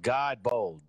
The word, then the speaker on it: Godbold: artist god bold music my bad i've been saying your name wrong for a minute and is it pronounced god bold yeah that's it that's my so crazy